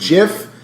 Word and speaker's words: GIF: gift or just give Eric says gift she says no well he's always shaders jiff it's peanut butter and jf choosey mom's choose Jeff it's graphics okay it's a hard G there's that John see